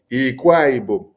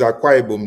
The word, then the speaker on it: Akwa Ibom: You say, this man speaking, Ikwaibo. Please, try to write it properly so that everybody can understand you. Or if it is Akwa Ibom that you're trying to pronounce, then pronounce it well.